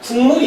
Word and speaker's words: 국물: 거라고 볼 수가 있습니다 그래서요 발음이 되면은 종 발음이 어떻게냐 국물 이렇게 발음 되죠 즉 뭐가 음이 어디에